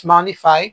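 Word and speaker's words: Monefy: Pronunciation is moneify pero mane ang spelling niya is e.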